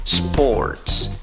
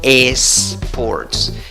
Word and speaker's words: sports: en la escritura básicamente sports sports no cometas el error de empezar la pronunciación de esta palabra con una y no digas es ports empieza soplando sports palabra